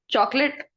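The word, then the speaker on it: chocolate: चॉकलेट। What? चॉकलेट। चॉकलेट। चॉकलेट, चॉकोलेट सब गलत होता है।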